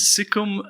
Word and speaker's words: SigCom: actually have a problem is it sikom or sigcom is sikom uh yeah we pronounced it like that but it comes from